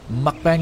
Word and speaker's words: mukbang: __ ] Ally do you watch mukbang videos mukbang alley am I even saying it right am